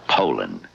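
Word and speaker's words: Poulan: for over 30 years they've been mispronouncing our name po po po so we'd like to remind you that our name is Poland and for a tough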